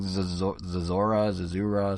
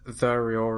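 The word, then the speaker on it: Zeraora: It's like Zazura, something like that, right? Is Zariora.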